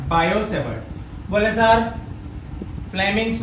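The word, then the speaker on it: Biot–Savart: बायो-सेवर्ट, T silent है ना, बायो-सेवर्ट।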